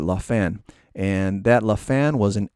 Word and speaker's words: Lafin: Spelled Lafin, but it's a French maker. I believe you pronounce it Lafin.